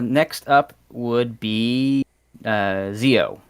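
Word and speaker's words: Zi-O: up would be uh zeo or geo harrier you know if you want to go the the correct pronunciation which is the the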